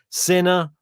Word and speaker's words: Sinner: for his name obviously sinner rhymes with winner is he gonna be